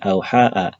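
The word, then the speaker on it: أَوْحَىٰ: Jadi di sini ada "au ha", di sini ada alif yang disebut aliful maqsurah, tetapi itu almuqaddar. Nah, ini dia dengan fathah. Jadi, sebenarnya ada alif dengan fathah, "au haa". Namun karena disebut sebagai alif maqsurah, kita membacanya sebagai "au ha".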